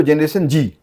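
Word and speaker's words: Generation Z: जनरेशन जेट या फिर कहें तो जनरेशन जी both are the same हम लिखते हैं जनरेशन जेट पर उसे प्रोनाउंस करते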